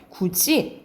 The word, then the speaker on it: 굳이: 그래서 발음은 우리가 쓸 때는 디귿티읕으로 쓰지만 발음은 지읒치읒으로 난다 이 말이야. 그래서 뭐 대표적인 게 굳이 그리고 뭐 밭이 이렇게 난다라는 거죠.